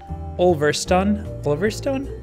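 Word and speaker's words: Ulverston: Alex, the Minecrafter, suggested renaming one of the cities Oliverstone?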